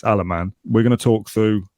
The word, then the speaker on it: Alemany: is that it's Mateo alaman not Alemany which is what I thought it was our sort clarification and the Y is silent so the first thing I've learned is that it's alaman we're going to talk